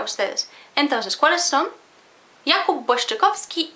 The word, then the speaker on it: Błaszczykowski: Jakub Błaszczykowski y Łukasz Piszczek. Jakub Błaszczykowski. Jakub Błaszczy. Błaszczykowski.